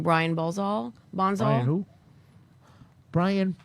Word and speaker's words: Bonsall: When I was actually, we actually going to have, and I don't want to say his name wrong, Brian Bonzal. Brian who? Brian Bonsall, yep.